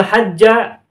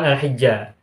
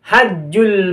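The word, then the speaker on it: حَجّ: berbunyi walillahi 'alan nasi hijjul baiti, dibacanya tidak hijju, tidak hi tetapi ha. Walillahi 'alan nasi hajjul baiti manistata'a ilaihi sabila.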